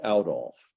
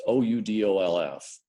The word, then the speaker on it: Oudolf: When Piet introduces himself, he says, "My name is Piet Oudolf." So it's owl like brown, cow, owl. It's Oudolf.